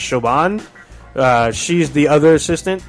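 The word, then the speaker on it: Siobhan: when you see uh I think her name's pronounced shoban uh she's the other assistant that was challenging her she's pretty bad showan sounds like yogurt actually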